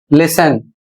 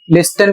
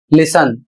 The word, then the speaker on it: listen: Spelling है एल आई एस टी ई एन और इसे पढ़ा जाएगा लिसन। इसको बहुत से लोग लिसन पढ़ते हैं। जबकि गलत है। इसे आपको पढ़ना है लिसन।